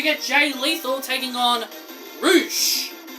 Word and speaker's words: Rush: Roosh. But they say but it's pronounced Rush, but they say Roosh.